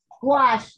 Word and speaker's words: gouache: of a small kid's gouache set i think you'll find it'll really like support your watercolor work you spell it wash g-o-u there's a u in there somewhere g-o-u-a-c-h-e actually if you